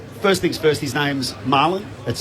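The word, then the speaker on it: Marlion: things first his name's marlon that's spelt m-a-r-l-i-o-n and i asked how you pronounce it they said well his nickname's fish so it's pronounced okay it's pronounced like the fish so um incredible story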